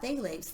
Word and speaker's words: phthalates: And along with that are phthalates. It's spelled PTH, right? Phthalates.